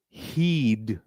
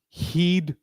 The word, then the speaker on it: he'd: In this context, pronunciation of this is heed. He would. Please repeat after me. He'd tell me.